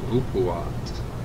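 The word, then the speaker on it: Upuaut: It's pronounced Upuwat.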